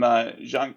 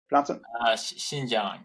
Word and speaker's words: Xinjiang: validated that products that were directly sourced from Zhangjiang? Is that how you pronounce it? Xinjiang.